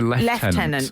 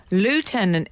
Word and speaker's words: lieutenant: Colonel sounds that way we're supposed to say um you know supposed to say left I always thought you were meant to say Lieutenant but okay here's the thing lie tenant is an americanism okay left tenant is